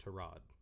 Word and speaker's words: Tyrod: quarterback like say it's it's pronounced to rod i always say tyrone it'll always be i'm